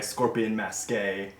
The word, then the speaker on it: Scorpion Masqué: Ghost Stories I really enjoy, and published by Scorpion Masqué, as you promised me it's pronounced.